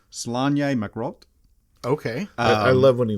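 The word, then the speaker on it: Sláine mac Roth: the characters full name is slain McCraw hmm that's how us in America would say it however that is not how you actually say it this is a Celtic name so it's print actually pronounced salon yamicraw okay I love when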